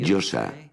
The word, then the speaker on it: Yosa: La Yo, la A, que se pronuncia así, Yosa.